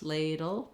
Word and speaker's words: ladle: tongue drops Ladle dull you're just trying to move quickly from the D to the L and the letter e is silent if there's any sound between D and L it's a small light little unstressed schwa dull but you